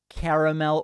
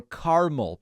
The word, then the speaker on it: caramel: It comes in original, decaf, caramel, or caramel. Please pick whichever pronunciation you want.